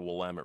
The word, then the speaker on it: Willamette: law oh that will let I came as pronounce it the Willamette River right and I caught a five and